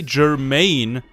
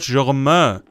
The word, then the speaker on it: Germain: body Bishop out Germaine did you just say Jermaine he's called germa I mean we're in France you should probably know this or you should probably know how to pronounce it you stupid [